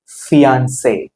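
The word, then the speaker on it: fiancée: Family, parents, mother, father, brother, sister, son, daughter, mom, mom, dad, husband, wife, fiancé, fiancé. நிச்சயமாக்கப்பட்ட ஆண், நிச்சயமாக்கப்பட்ட பெண். So spelling மட்டும்தான் மாறும், pronunciation ஒன்று தான்.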